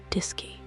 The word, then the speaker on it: DSKY: Fact number 74 is that the Apollo guidance computer used a display and keyboard called the DSKY pronounced disy through which astronauts entered commands and received information about the spacecraft's systems and trajectory.